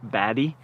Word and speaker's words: Berg: podcast you'll find out it's not pronounced Berg it's pronounced baddy which is I don't know how that makes sense but that's what it is and uh it also